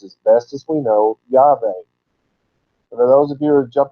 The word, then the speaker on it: Yahweh: The closest we can come is Yahweh. Not Yahweh, certainly not Jehovah, but Yahweh.